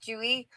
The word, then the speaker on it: Tzuyu: I would just want to think of the girl's name from Twice, Chewy, which is spelled Tzuyu, but I know it's not that.